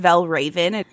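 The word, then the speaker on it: Valravn: It is pronounced Valraven.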